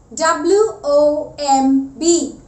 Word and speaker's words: womb: W-O-M-B. Womb. Before B comes an M, that is why the B is silent.